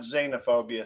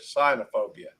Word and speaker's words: cynophobia: Nope, not xenophobia, cynophobia.